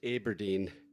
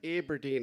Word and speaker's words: Aberdeen: actually born in aberdeen although she made me pronounce it correctly which is aberdeen it's aberdeen al it's aberdeen and she was really quite